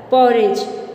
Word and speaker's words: porridge: Yes, you have to write here porridge. P-O-R-R-I-D-G-E. Here the sound of D is silent. Porridge.